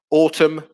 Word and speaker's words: autumn: a silent g there autumn uh where there's a silent n vineyard where you make